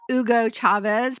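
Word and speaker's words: Hugo Chávez: and uh yes I do know how to pronounce Ugo Chavez because I speak Spanish not because of uh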